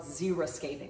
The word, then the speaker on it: xeriscaping: I wanted something that was more drought resistant, something called xeriscaping. That's spelled X-E-R-I, scaping. A lot of people think it's zero, like the number. No, it starts with an X.